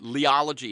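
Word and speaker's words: Liology: Jeremy Lynn is founder of the nonprofit Leology Institute. I'll spell that.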